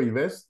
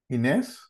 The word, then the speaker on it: Inés: Inés López o Ives López. ¿Cómo se dice tu nombre? Inés.